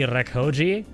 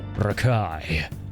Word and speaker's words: Rekoji: For a second I was like, "Did he actually just call me Rakoji?" And it's just the way it's pronounced is Rakai, but I realized he said you're the guy.